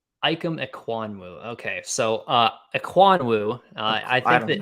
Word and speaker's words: Ikem Ekwonu: I believe it's pronounced Ikem Ekwonu. Ikem Ekwonu.